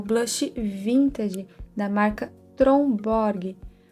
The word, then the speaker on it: Tromborg: É o blush vintage da marca Tromborg. A pronúncia dessa marca, na verdade, é algo do tipo Trombo, mas para facilitar a nossa comunicação, eu vou tratar essa marca como Tromborg mesmo, tá?